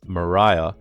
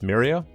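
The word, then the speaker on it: Miriya: to pronounce in the first novel The narrator pronounces it as Mariah but in the following stories it's pronounced as Mira personally I pref prer the first pronunciation but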